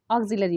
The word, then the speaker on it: auxiliary: अब देखिए ऑक्सिलरी verb, अब यहाँ पे भी क्या कन्फ्यूजन होता है कि हम इसको ऑक्सिलरी पढ़ते हैं, बट इसकी स्पेलिंग जब लिखते हैं तो ऑक्सिलरी ऐसे करके लिखते हैं, यानी AUXILIARY।